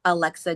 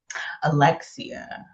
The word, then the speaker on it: Alexia: inspired the main character, Alexa Jacobs? Alexia. Alexia. Alexia. I had that. I'm saying her name wrong this whole time.